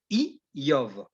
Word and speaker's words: אִיּוֹב: Il y a une autre, je dirais, un autre nom qu'on retrouve aussi dans le livre de Job, Yov, c'est I-Yov. Donc, se prononce avec le Aleph, donc signification du Aleph, donc c'est le bœuf, prince, maître, conseiller, époux.